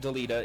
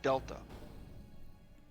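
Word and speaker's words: Delita: I play this game I have always pronounced his name is Delta wait what well there's an eye in there but yeah I guess I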